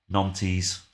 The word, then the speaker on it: Nantes: Nantes. Even though it sounds like I'm saying nonce, but or not, but you know.